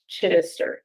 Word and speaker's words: Chittister: I've said it so many ways, but Lisa Chittister. All right. First syllable is enunciated. Write that down.